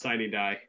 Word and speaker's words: sine die: It's sine die.